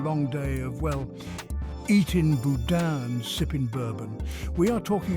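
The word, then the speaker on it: boudin: beer brings together more than 50 leading chefs pronounced Budan this tasty delicacy originated in Western Europe and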